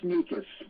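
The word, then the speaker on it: Snieckus: the Super Bowl game will sneak us in so that's how you pronounce it can can you hear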